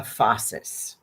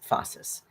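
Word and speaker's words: phasis: There's something called uh fossus and that's spelled ph um ph a s i s fossus and it's a henistic term actually uh that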